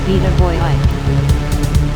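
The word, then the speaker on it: Vita Vojić: Vita Vojic, that's right, it's AC not AC, it's a CH sound. So it's pronounced Vita Vojic. If you read it in English, it's a Croatian last name, or Serbian.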